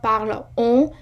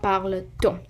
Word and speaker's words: parle-t-on: If I said pourquoi parle on, it's not a good pronunciation. You always say pourquoi parle-t-on.